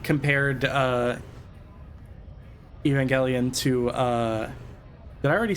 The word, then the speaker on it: Evangelion: I always say I I say Evangelion. I say Evangelion. I say Evangelion. like that. It's It's Evangelion.